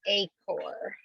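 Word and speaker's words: Achor: name yeah i know it looks like it should be h or but it's a core yeah yeah we all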